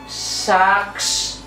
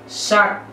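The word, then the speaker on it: 삯: এটা উচ্চারণ কিভাবে হবে অনেকে উচ্চারণ করতে গেলে বলবেন যে সাক্ষ সাক্ষ বিকজ কারণ সা যোগ ক যোগ সক্স না এটা ভুল উচ্চারণটা হবে শাক শাক আমরা যে শাক খাই শাকের মত উচ্চারণ হবে শাক আচ্ছা যুক্তবর্ণের প্রথম ব্যঞ্জন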